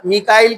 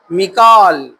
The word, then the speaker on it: میکائیل: تفسیر میں لکھا ہے لفظ میکائیل کے 6 تلفظ ہے: میکائیل، میکائیل، میکال، میکیل، میکائیل، میکائل۔ یہ الگ الگ الفاظ، الگ الگ ایک ہی ہے، الگ تلفظ سے آتے ہیں۔ اللہ تعالیٰ سورہ بقرہ